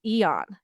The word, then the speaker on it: Aeon: And I we called our company Etherbal, which the root word comes from the word eon, and it's spelled Aeon, and it means far off into the distant future.